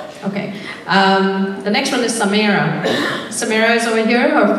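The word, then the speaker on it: Samaira: The next one is Samira. Samira is over here. Her first name is spelled as S-A-M-A-I-R-A.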